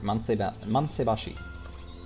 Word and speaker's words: Mansaibashi: And yeah, you pronounced that pretty much right. Mansaibashi.